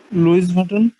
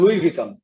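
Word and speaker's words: Louis Vuitton: LOUIS, VUITTUN, লুইস বাটন। লুইস বাটন, কিছুটা ক্লোজ ছিল। আর আচ্ছা আমি বলছি, এটার উচ্চারণটা হচ্ছে লুই ভিটন, উচ্চারণটা হচ্ছে লুই ভিটন, লুই ভিটন, লুই ভিটন না, ইটস ভিটন, ভিটন, লুই ভিটন।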